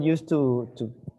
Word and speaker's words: used to: Used to, sometimes it's just people used to or tend to mispronounce the use. So it's used sounds like a D, used to.